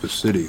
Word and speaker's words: Pacitti: the permitting office, which I is, think it's Pacitti, The but city, The city, P-A-C-I-T-T-I. yeah, I didn't know if it was Pacitti or Pacitti, but anyway, Must be Italian.